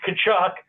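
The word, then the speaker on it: Tkachuk: little bit tough um it's kachuck you were you were sort of close I think you managed to mispronounce it two different ways but you know you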